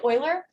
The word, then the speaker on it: Euler: one second um so this is called project oiler um it looks like euler it's pronounced euler um i love these these challenges